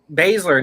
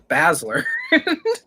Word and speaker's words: Baszler: Baszler, not Basler.